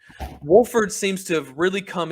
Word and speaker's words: Wolford: we now have Waldron how do you say his last name Wilford Wolford Wolford seems to have really